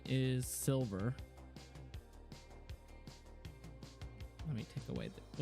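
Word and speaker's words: Cylver: Her name is Silver. Let me take away the, whoops. This is Silver. This is my friend's character. And it's Silver spelled with a C. C-Y-L-V-E-R.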